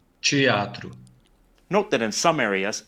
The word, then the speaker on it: teatro: Palatalization also occurs in de and te when they're unstressed with no accent mark and when they're followed by a in the next syllable. That's because in those cases the letter e actually sounds like the letter I.